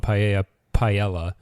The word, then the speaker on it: paella: corrected them and said, it's actually paella. And he's like, what, are we all trying to sound Latino? And so I was kind of like, that's the word, though. Like, that's how you say it. That is the pronunciation of that word.